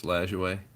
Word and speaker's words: Lajoie: I was saying his name wrong for for most of my life, and then I was watching Ken Burns baseball, and that's how they said it. So I'm gonna assume it's Lajoie.